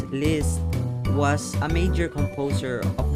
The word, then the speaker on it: Liszt: of bavaria german empire this pronounced as liz was a major composer